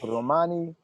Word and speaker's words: Romani: How do you pronounce it? It really depends on what side of the family. It's Romani.